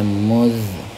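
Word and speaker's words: مذ: muz sejak atau semenjak muz ya muz bacanya muz kemudian man siapakah siapa siapa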